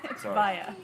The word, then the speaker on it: Vaea: day you're gonna have to help with the pronunciation via via the BT French Polynesia I was born